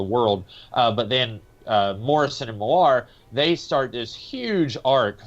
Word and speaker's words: Millar: Grant Morrison and Mark Miller, or Mark Millar, I don't know how to pronounce his name. Millar.